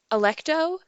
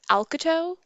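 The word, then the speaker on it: Alecto: I think the name is like um, Electo, but I pronounce it Alcato.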